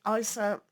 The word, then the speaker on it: Isa: Here with the Isa or Issa, depending on your pronunciation, things are kind of stuck.